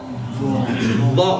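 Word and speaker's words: ظ: So it's Azim, Azim, Dha. Make sure there's no buzzing sound there. If there's a buzzing sound there, what are you doing? You're getting the teeth together.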